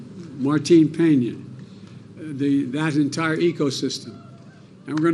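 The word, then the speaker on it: Martín Peña: canal to restore Cano, help me with the pronunciation. Martin Peña.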